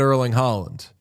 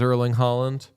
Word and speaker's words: Erling Haaland: It's like Holland, like a little. Breathier. It's like the vowels are a little more like rounded, maybe.